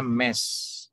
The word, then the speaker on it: Ms: Bacanya MES, ya. Ada kita belajar kemarin soal Mrs, ya, soal Miss. Nah, kalau ini Mess.